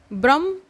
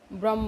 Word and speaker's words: ब्रह्म: क्या होता है कि भ और ब का जो उच्चारण है वो एक जैसा साउंड करता है, तो इन्हीं को हम होमोफोन्स कहते हैं ना इंग्लिश में, कि उच्चारण मतलब सेम सा हो जाता है, तो वही चीज़ है। तो कई बार वो भ्रम और ब्रह्म, ठीक है, ये चीज़ आप ध्यान रखिएगा।